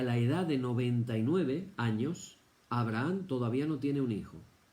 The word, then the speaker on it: Abraham: Abraham. Nosotros decimos Abraham en español porque la H es muda.